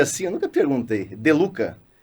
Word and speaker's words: De Lucca: De Luca? De Luca. Tem É um truque, espanhol? né? É italiano. No italiano tem a doppia, que é a dobra de consoantes.